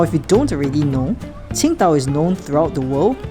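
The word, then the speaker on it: Tsingtao: the german people and because the west pronounces the alphabet q different to the east they had to label it ting tao with a ts instead of a q just so the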